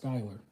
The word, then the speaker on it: Skyler: my name is Skyler my name is pronounced Skyler Skyler I don't know I that I don't know I have no idea how you how you got scholar from that but God speed Skyler